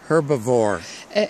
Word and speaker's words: herb: и следующее слово травоядный her her Как вы заметили her трава и H здесь Silent как говорят носители языка са то есть не произносится это трава Итак вы